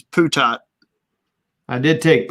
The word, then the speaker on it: Putot: I did take Putot. I believe the proper pronunciation, and I'm sure Brian can back me up on this, is Putat. I did take Putat.